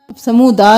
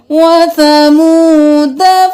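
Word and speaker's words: وَثَمُودَا: समूदा नहीं पढ़ना, यहाँ पर ये साइलेंट अलिफ होगा, दाल ज़बर दा करेंगे, फिर आगे से पढ़ेंगे। वसमूद फमा अबक़ा।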